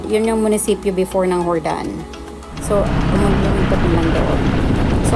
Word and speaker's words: Jordan: ito yung hordan sabi Akala ko n ang pagpronounce dito is Jordan hordan pala siya so ito yung ano